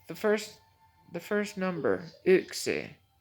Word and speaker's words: yksi: it from like the first the first number ooxy ooxy is y k s i it looks like